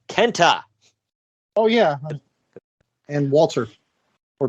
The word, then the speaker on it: KENTA: me you get it you gotta say it like they spell it kenta oh yeah and walter